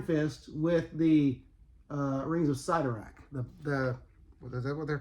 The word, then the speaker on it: Sidorak: The Crimson Bands of Sidorak. And so, as a kid, before Marvel cartoons and such as that, I always pronounce it Sidorak, but my understanding is it's Sidorak.